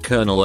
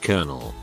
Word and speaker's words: colonel: 28 year old guy pronounced colonel as it was spelled as opposed to how it's properly pronounced like colonel to make matters worse